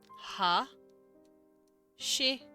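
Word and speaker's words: 橋: know that let's see english word for bridge again it is hashi but that's two syllables ha she and the way they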